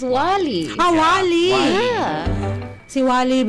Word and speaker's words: Wālī: Kinorrection niya actually yun sa interview natin it's pronounced as Wally. Ah wali. Ah si Wally Viola. Ay sorry okay Wally pala naku dapat mamaya na lang para may suspense na.